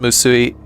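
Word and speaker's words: 無水: Moo like mu like moody. Oh, so it is pronounced musui.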